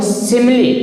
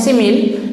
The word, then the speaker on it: simile: और एक चीज़ और ध्यान दीजिए, फिगर ऑफ स्पीच में पहला जो है सिमिली, इसे कुछ टीचर्स पढ़ते हैं सिमिल, लेकिन इसका सही प्रोनाउंसिएशन शुद्ध पढ़ा जाता है सिमिली।